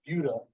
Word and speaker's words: Buda: Well, first of all, it's pronounced Buda.